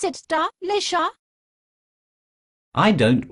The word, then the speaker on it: Delicia: It's not like your ugly cousin Tricia. The C sounds like an S. Delicia?